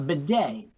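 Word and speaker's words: bidet: in on that bed b i d t a Beday that's how you pronounce that it's a European thing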